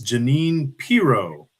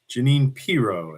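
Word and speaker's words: Jeanine Pirro: You're you're slightly mispronouncing the lady's name. Uh, obviously you don't watch enough Fox News, so this is a blessing, uh, not a curse. Uh, it's Janine Pro. Janine Pro.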